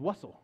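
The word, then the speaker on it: Wurst: I know how to. It's Wussel.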